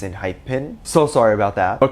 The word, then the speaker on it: ENHYPEN: doing a lot now i was told that i was pronouncing their name wrong it's not in hyphen it's in hype pin so sorry about that